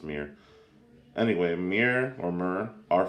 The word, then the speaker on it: Myr: As of now, Myr are only from, or I think people pronounce it Mir actually, but I usually pronounce it Myr, but I think it is pronounced Mir.